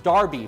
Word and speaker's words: Derby: back to the original Derby pronounced Darby from England in 1780